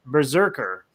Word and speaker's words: BRZRKR: It's so weird how it's spelled. It's BRZRKR. So it's like, I know it's Berserker, but it's hard to like read it that way.